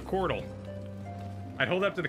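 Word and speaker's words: couatl: be read but yeah i think it's pronounced c-o-u-a-t-l chordal a quartal a chordal i'd hold up to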